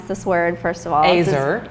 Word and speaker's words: Ezer: So how do we pronounce this word, first of all? Ezer. It's Ezer.